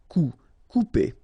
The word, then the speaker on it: couper: Okay, when you combine this O and U together, you will get the sound OU. Okay, couper.